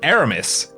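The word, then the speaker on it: Eramis: europa we're going to meet aramis which is exactly how he pronounces the name by the way i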